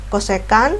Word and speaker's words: cosecan: sudah saya Tampilkan cosini CSC nih bacanya bukan jsc ya bacanya adalah cosecan cosecan Alfa itu adalah sisi